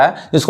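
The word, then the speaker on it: whose: जैसे यहाँ देखिए, यहाँ पे हुज, यहाँ पे डब्ल्यू साइलेंट हो जा रहा है। यानी ये क्या पढ़ाएगा? हुज पढ़ाएगा।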